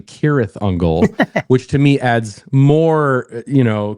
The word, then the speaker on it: Cirith Ungol: Rings lore, of course, but they pronounced it wrong as their own band name. It's actually Cirith Ungol, which to me adds